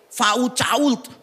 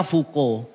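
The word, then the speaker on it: Foucault: Ada pemikir yang pemikirannya luar biasa namanya itu F A U C A U L T. Fau Cult. Bacanya fuko. Saya ketemu orangnya mau protes.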